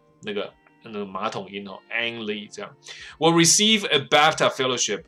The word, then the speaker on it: Ang Lee: Lee。我以前还我在找资料的时候我还误解，我还以为他的 An 是女生的名字，那个 An。那也不是说错啊，今日两性平权的状态下，或者应该讲多性平权的状态下。你取一个名字叫 ANNE，然后你是男生，好像也没什么不对的，但总是找不到，所以他的名字是 ANG，所以 Ang Lee，那个马桶音哦，Ang Lee 这样。Will receive a BAFTA fellowship at the BAFTA